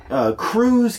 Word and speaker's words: Krewe: Here locally, okay, Crews, Krewe is how you spell it for those playing along at home.